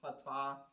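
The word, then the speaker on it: חטא: So the Hebrew word for it is the word hata. The K there is silent, so it's hata, and it literally means failing or missing the mark or missing the goal.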